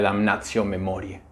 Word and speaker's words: Damnatio Memoriae: El tema del que voy a hablar hoy es Damnatio Memoriae, o para satisfacer a los que prefieren la pronunciación eclesiástica de la palabra sería Damnatio Memoriae.